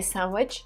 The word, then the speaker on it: sandwich: it people say sandwich without the d and in british they just say sandwich sandwich so i i forgot how to mimic how to try and mimic british accent but anyways the letter d is silent there when i think about